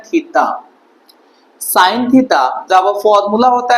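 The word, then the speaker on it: theta: इसका नाम इसे प्रोनाउंसिएशन किया जाता है थीटा।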